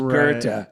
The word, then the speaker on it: Goethe: it's written Goethe, but in German, that name is pronounced Goethe. Right. So again, I wish to remind you of the promise of Goethe.